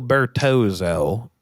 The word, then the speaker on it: Bertozzo: It's like pizza. When there's two Z's, it becomes Filippo Bertozzo.